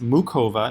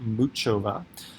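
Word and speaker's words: Muchová: since Cova against I just found out it's pronounced mu Cova not moot Chava they split sets and then they went into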